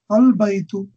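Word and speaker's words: البيت: Al-Baytu. So this is a lunar letter.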